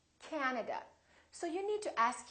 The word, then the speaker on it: Canada: and also Three A's this time the first syllable is stressed this time this a is really long so don't say Canada say Canada Canada so you need to